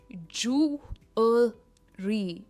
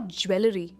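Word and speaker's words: jewellery: सबसे पहला है, ये है जूलरी, जूलरी एंड नॉट ज्वेलरी। बहुत सारे लोग इसे ज्वेलरी कहते, पर स्ट्रेस जू पर है और एन और बीच में हम अल कहते हैं, जूलरी एंड नॉट ज्वेलरी, जूलरी यानी आभूषण।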